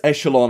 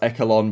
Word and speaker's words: Echelon: look, multiplayer maps, Apocalypse, Echelon, and June, I think it may be in America, this might be pronounced Echelon, but in the UK, I think it's meant to be Echelon.